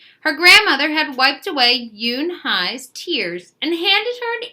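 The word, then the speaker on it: Unhei: "No, no, yunhai," corrected. "It is spelled U N H E I.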